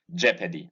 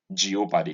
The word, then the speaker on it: jeopardy: It says jeopardy, not jeopardy. There's no O inside this word.